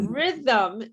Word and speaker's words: rhythm: say read yeah rhythm now the h is silent okay the h is